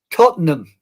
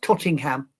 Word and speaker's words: Tottenham: Yeah, because I know it says it's in Tottenham, England at the Excuse me. It's in London, England at the Todd Tottenham Hotspur Stadium. Tottenham, not Tottingham. Tottenham.